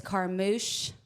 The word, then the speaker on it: Carmouche: So closer to the border of Texas and Louisiana, it's Carmouche. Carmouche. Like a big fat douche. Yeah, like a big fat douche. And then, of course, Texas, looks like it's spelt Carmouche. E is silent.